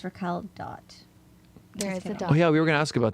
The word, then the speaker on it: RAQUEL.: sorts of stuff it's Rael dot there is a DOT oh yeah we were going to ask about that although but but you don't pronounce it though you don't pronounce the dot silent yeah cuz you